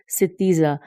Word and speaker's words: ستیزہ: صحیح کہہ رہی ہوں، ستیزہ، سین تے یہ زے ہے، سین کے ساتھ زیر ہے اور تے کے ساتھ بھی زیر ہے اور زے کے اوپر فتح ہے، زبر ہے۔ اس